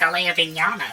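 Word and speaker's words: Alaya-Vijñāna: I can't even spell it, so... Oh, you got an Alea Vignana. Actually, it's Alea Vignana system.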